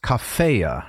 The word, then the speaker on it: cafea: you've said it is to be pronounced as cafea right as a first declension noun so if you wanted